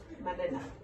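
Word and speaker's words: مننه: Manena. 3 syllables. Manena.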